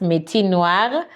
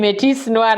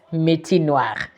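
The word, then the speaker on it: Métis Noir: him me noir like oh the S is silent forgive me I'm anglophone so we don't know that but now I've learned so he's called fabrigas minoir so he has a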